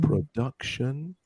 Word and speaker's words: production: Yeah, it's not production, it's not production, it's production. So it's in the second syllable.